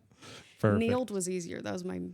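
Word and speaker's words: Nield: Need was easier. That was my maiden name. Say that again. Need. Oh, okay. Like field. But Neal.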